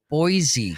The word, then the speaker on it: Boise: It's pronounced Boise."